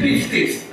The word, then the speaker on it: pistis: I'm almost afraid to pronounce that word in the pulpit, but that's, it's pistis.